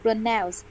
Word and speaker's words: pronounce: Pronounce. Pronounce two. Pronounce two. Yes. Pronounce. Stress on the second syllable.